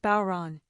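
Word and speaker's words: Bodhrán: This is a traditional Irish frame drum, pronounced Bon.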